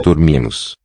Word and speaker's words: dormimos: Nós dormimos. The spelling is just like Spanish, but us Dormimos. final syllable. And how does the R sound? Nós dormimos. Here it's a r, a trill.